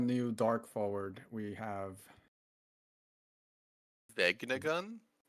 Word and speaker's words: Vegnagun: How do you pronounce that new dark forward we have? Vegnagun? Vegnagun.